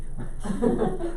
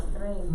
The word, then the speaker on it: tren: That's a choo-choo train. What about the last word? You almost got it. El train. El tren. That's what it is.